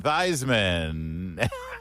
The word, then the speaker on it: Theismann: one and only Joe rhymes with Heisman thyman Hey Jo good morning